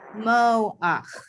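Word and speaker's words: מֹחַ: If you have a chet with a patach at the end of a word, you say ach, ho-ach, mo-ach, re-ach, no-ach, si-ach, echo-ach.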